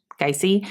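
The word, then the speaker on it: Gyasi: is by ya geisey I looked up how to say her last name and you're supposed I guess you're supposed to announce it the first like sound is guy guy see so uh yeah um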